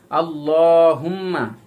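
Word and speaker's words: اللهم: আল্লাহুম্মা, হামজা লাম জবর আল, লাম খারা জবর লা, আল লা, এখানে লাম শব্দটি মোটা হবে, কারণ আল্লাহ শব্দের ডাইনে যদি জবর থাকে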